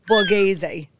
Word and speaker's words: Borghese: I have a very special guest Mr Paul Boraz and I said it right right yes you